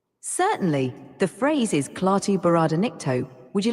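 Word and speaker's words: Klaatu barada nikto: it again the name certainly the phrase is clar bar ncto would you like me to spell it out again yes all right here it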